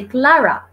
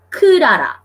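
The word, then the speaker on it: クララ: Kurara desu, because guys, Japanese speaks using syllables, okay? So they will not say Clara, they will say Kurara, okay?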